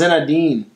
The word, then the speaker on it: Zinedine: It is pronounced it's pronounced Zinedine.